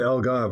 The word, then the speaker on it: Algarve: are located in portugal in the it's the algarve right that is the correct pronunciation of where you are located absolutely it's the algarve it's the southernmost portion of portugal um and